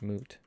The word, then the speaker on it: moot: a funny word like if you look at the spelling it should be pronounced like foot but instead it's pronounced like mute almost moot like boot huh hoot boot moot